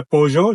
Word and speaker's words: Peugeot: तो make model variant ये है पोजo जिसे हम जिंदगी भर सऊदिया में पीजू भी कहते रहे। बट ये है कि आप दोनों तरह से प्रोनाउंस कर सकते हैं। पोजo भी और पीजू भी।